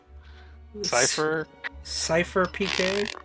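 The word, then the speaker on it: CypherPK: How do you say that? Cypher PK. Oh, that's it.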